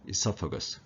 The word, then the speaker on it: esophagus: 발음 같습니다. 그래서 영국식은 esophagus, O가 하나 앞에 붙고 미국식은 그 O 빼고 esophagus. 그 발음에 좀 더 충실한 것이 미국식이라고 생각하시면 되겠어요. 발음은 영국식, 미국식 동일하고 강세도 모두 이음절의 강세가 있습니다.